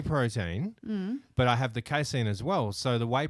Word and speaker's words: casein: I've also, this is another thing, I've started on casein.